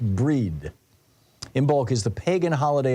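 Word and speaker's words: Brighid: Bridget b r i g t which is pronounced breed imul is the pagan holiday of Awakening for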